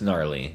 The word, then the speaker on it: gnarly: Whoever Whoever came up with the word gnarly should have just dropped the G, but it's fine.